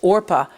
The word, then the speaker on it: Orpah: So it went down as Orpah on my birth certificate, but people didn't know how to pronounce it. So they put the P before the R in every place else other than the birth certificate.